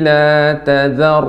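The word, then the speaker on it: لَا تَذَرْ: La Ta-nya tipis, zalnya juga tipis. Yang tebal ro-nya. Jadi pengucapannya la tazar. Jangan jadi zalnya ditebal. La tazar, tazar. Salah, tazar. Tazar. Zalnya tipis, ro-nya tebal.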